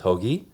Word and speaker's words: Hoagie: Hoagie is how it's pronounced, but okay, so Hoagie. I go with that, yeah. Like the sandwich?